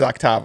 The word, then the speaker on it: Octava: how to pronounce names, brand names. Yeah. Octava. Octava, yep. Octava. But it is Octava.